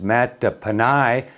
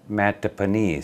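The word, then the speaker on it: Mattaponi: news sources yesterday i pronounced uh a tribal name wrong it is mata pannai not matt matapani so it's the matapanai tribe there in virginia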